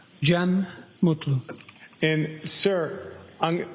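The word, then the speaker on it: Cem Mutlu: It's officially spelled C E M uh last name M U T L U. I also spell it with a G. GM.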